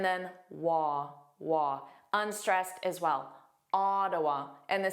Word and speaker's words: Ottawa: Ottawa. Ah, a lot lazier, a lot more unstressed. The first sound is a A, not an O sound like the spelling A.